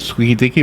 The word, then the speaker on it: Squeaky Deaky: Squeaky Deaky, am I saying it right? That's it.